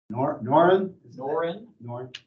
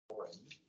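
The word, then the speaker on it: Norren: Noren. The second, it's N-O-R-R-O-N. The second O is pronounced more like an E. Noren.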